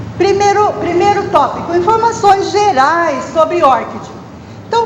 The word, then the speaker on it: ORCID: E os desenvolvedores do ORCID, eles pronunciam assim, eles pronunciam ORCID.